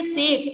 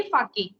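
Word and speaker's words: sake: इसमें आपके दे रखा है सेक, ऐसे के ही दे रखा है ना, लेकिन इसको जापान की लैंग्वेज में बोलेंगे फाके, तो आप इसका प्रोनाउंसिएशन यहाँ पे फाके करोगे, सेक नहीं करोगे।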